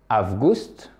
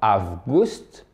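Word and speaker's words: август: Maintenant, août, c'est presque comme en anglais, si vous connaissez l'anglais. Avgust. D'accord? Avgust.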